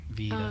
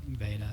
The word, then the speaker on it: Veda: I always want to go long E, Veda, Oh, yeah. but Veda.